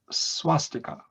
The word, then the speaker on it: swastika: That's also a Sanskrit word, but the Indians pronounce it swastika. So now it is Romanized as SW rather than SV.